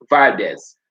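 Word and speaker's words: Valdez: and it might be you might see the pronunciation might be different for valdic so we talk about x on v a l d e z valdes all right so he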